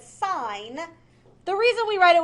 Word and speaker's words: sine: e we're just lazy so it's not sin a lot of people want to say that sign the reason we write